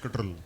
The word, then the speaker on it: CTRL: So before, I mean, okay, so let's call it CTRL since that makes Mayank happier. Pronounce it Control.